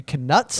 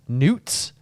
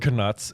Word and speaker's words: Knut: the audio book uh a rare error by Jim Dale an uh pronounces uh knuts as NES oh uh which I think is kind of interesting because it just like also feels like a kind of wizardy like word I like that the word canuts is like you pronounce the k yeah like that's very